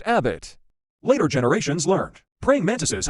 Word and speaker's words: abit: fascinated by praying mantises this hieroglyph means mantis pronounced Abbott later generations learned praying